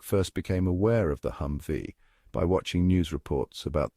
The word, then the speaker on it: Humvee: a hmmv that thankfully they simplified to be pronounced as hum V as the name implies it was this massively